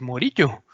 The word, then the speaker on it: Morillo: pues mejor pero no cómo se pronuncian en español de que no pues morillo y entonces repitió un